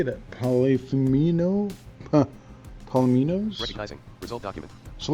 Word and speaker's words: polyominoes: Polyphemino? Polyminos? Recognizing. Result document. So let's read the little block underneath it. By Solomon W. Golomi. Polyominoes. Polyominoes, yeah. I was trying to think of how to say The that.